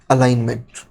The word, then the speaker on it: align: Next अलाइनमेंट। अलाइनमेंट के अंदर देखो top, middle, bottom, orientation, decrease, rap, merge and centre. चलो देखो अलाइन, अच्छा यहाँ पे ALIGN, तो यहाँ पे G साइलेंट होता है।